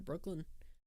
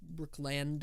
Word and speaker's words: Brookland: something bookended up near Brooklyn um Brookland I need to pronounce it correctly have a bit of